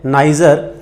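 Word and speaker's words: Neisser: आपको हिंदी में ये नाम नीजर भी लिखा हुआ मिल सकता है, बाकी एग्जैक्ट इंग्लिश में इसका प्रोनाउंसिएशन है नाइजर।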